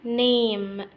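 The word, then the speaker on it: name: يجلس على ست اون ست اون اسم يعني نيم نيم زي لما اقول ماي نيم از اسراء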